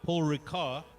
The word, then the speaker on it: Paul Ricard: are not aware uh paul ricard the the d is actually a silent d so that's actually pronounced this uh this was built